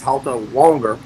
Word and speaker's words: Alteronger: He said it's halt longer and I said okay like wantton like you